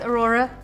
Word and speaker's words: Aurora: It rhymes with your name, Nora. It does, Aurora.